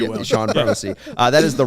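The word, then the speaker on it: Chone: it's like sean marshall oh yeah what about sean figgins c-h-o-n-e yeah so that's a good call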